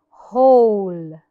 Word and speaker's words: whole: H W silence rules if the W is followed by an H the W is silent love is whom whom